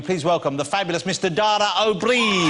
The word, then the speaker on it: Dara O'Brien: Dara O'Brien? That is the correct pronunciation, isn't it, Dara? That's really good. O'Brien. Yeah. Shockingly good, yeah.